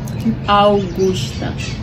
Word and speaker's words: Augusta: So Augusta, how do you pronounce your name? Augusta. Augusta. Yes. And the same spelling in Nigeria, the spelling of your name is pronounced as Augusta. Okay. But that's why you see most times I call you Augusta, because that's the spelling and that's how we pronounce it in Nigeria.